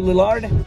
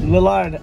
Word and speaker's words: Lillard: skeet ulrich and matthew lillard what no i know it's lillard but i'd like that the large lilard i like to pronounce that it's funny but matthew